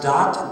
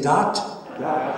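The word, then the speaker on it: דעת: dalit and the tav the hebrew word for religion is pronounced dot d-a-t everybody say dot and it uses the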